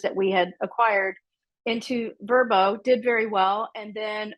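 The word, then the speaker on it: Vrbo: rental by owner now they like us to pronounce it verbo as host um but uh and then we started putting that home and then a couple of others that we had acquired into verbo did very well and then over the years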